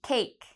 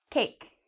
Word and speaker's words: cake: at our next word cake what is the vowel in this this word you said the a you're correct cake now the e in cake we don't pronounce so it's not a vowel because we don't actually